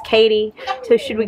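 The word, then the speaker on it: Cady: And in Mean Girls, the lead character, Katie, her name is spelled C-A-D-Y. And they all called her Katty. But she was like, it's Katie.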